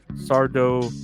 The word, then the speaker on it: Sardo: That's Sardo with S accent on the O. Sardo.